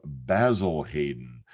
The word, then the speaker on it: Basil Hayden: And because of this heritage, I always find myself wanting not to say Basil Hayden, like I hear bartenders and bourbon fans say, but to add to that proper British pronunciation to Basil Hayden.